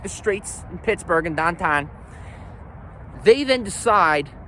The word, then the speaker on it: Pittsburgh: going to call it Pittsburgh, we're going to call it Pittsburgh, just like Hamburg, Salzburg.